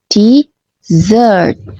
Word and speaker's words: dessert: Pengucapannya beda tipis di penekanan suku kata. Desert penekanannya di suku kata kedua. Desert. Sementara desert di suku kata pertama desert.